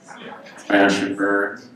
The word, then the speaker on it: Mashburn: My name is not Mash Mashburn, but a lot of kids seem to think that it is, because they don't know how to say 2-syllable words. Mash and burn.